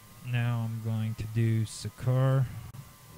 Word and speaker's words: Seker: Okay, so now I'm going to do Sekur. It's spelled Seker, capital S at the beginning.